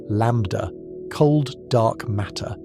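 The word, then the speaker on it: ΛCDM: Modern cosmology uses a working model called LCDM, pronounced lambda, cold dark matter, and it functions like a shared set of rules.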